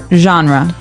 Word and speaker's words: genre: We say genre. Genre. Word. Genre. This kind of sounds French. Is it French?